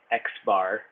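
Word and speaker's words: x̄: To find the mean, pronounced x bar, x with a little bar over it, of a set of observations, add their values and divide by the number of observations.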